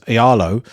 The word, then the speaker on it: Aealo: your entire discography was Aealo. Have I Oh, yeah. pronounced that correctly, by the way? Yes, very nice.